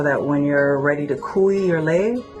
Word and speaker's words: kui: And today we're going to teach you a style of Hawaiian lei making, which is called kui, and that's spelled K-U-I, and what kui means is to pierce.